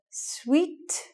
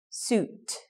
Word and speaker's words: suit: non-native mistake suit suit some people say sweet sweet all kinds of wrong pronunciations for that one thing to remember there is it the long you sound ooh suit suit then it seems